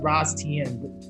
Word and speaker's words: Ras Tien: It's pronounced Ras Tien.